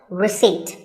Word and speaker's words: receipt: in word number 24 receipt the p is silent when you purchase something